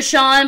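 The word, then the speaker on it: Chaun: card it's another sean but his his name is weirdly spelled like c-h-a-u-n like it's oh look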